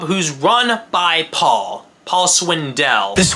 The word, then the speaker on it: Swindell: Paul Swindell. It's Swindell. Accent on the back half.